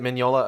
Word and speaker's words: Mignola: of pushed towards like having Mignola am I pronouncing that right by the way? Mignola. Is it Mignola?